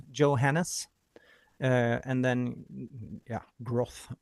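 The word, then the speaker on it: Groth: Uh and then yeah, growth or whatever. G R O T H.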